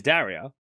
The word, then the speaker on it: Daria: Like her name is Daria and it's that's how you say it or Daria but like her nickname is Dasher which is more fun to say.